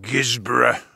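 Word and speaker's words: Guisborough: Now we're looking Gisborough, as they pronounce it in the north.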